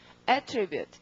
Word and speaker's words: attribute: 동사일 때는 강세가 어느 쪽에 오고 동사일 때는 강세가 뒤에 오고 명사라면 앞에 오고 이럽니다. 근데 명사와 동사의 뜻도 많이 다르니까요. 우선 동사부터 이렇게 해서 동사가 더 쉬우니까 발음은 attribute 구조가 attribute A to B 이런 구조. 명사라면 맨 처음에 강세가 옵니다. 그러니까 A 스펠링 강세가 받으면 발음을 어떻게? attribute 이렇게 됩니다.